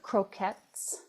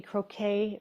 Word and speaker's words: croquette: So, have you heard of croquettes? I'm probably pronouncing it wrong, maybe, but I thought otherwise it would be croquet, which doesn't sound right for food. It's a French Yeah. word, croquette.